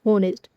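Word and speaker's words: honest: होनेस्ट। होनेस्ट का उच्चारण है। यह किससे होता है? एच से होता है। और यह क्या है? वोवेल साउंड है।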